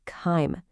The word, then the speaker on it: chyme: And that soupy mix is called chyme. Can you try saying that with me? Ready? Chyme. That's it. It rhymes with lime.